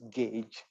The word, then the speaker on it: gauge: of a 22 gauge this pronounced gauge okay spell g but it's gauge it's just telling the